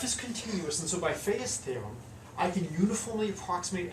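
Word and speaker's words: Fejér: Well, because f is continuous, and so by Fa's theorem, I can uniformly approximate f by the weighted Fourier series. So this is Fa's theorem. I think the accent is on the second E.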